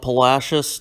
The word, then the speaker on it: Palacios: a small town called Palacios, Texas. That is how we pronounce it, not Palacios, Palacios.